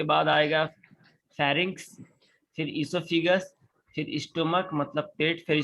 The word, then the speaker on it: oesophagus: The mouth, pharynx, इसोफेगस, ये OESOPHAGUS ओइसोफेगस लिखा है, लेकिन इसको प्रोनाउंसिएशन करना है, इसको बोला जाता है इसोफेगस। क्या बोलना है? Esophagus. ओम कुमार, आवाज जा रही है? Yes, sir. तो ये लिखा है ओइसोफेगस, लेकिन प्रोनाउंस करना है इसोफेगस।